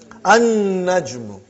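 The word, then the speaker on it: النَّجْمُ: An-najmu. You did not pronounce lam because noon is a shamsi, sun letter.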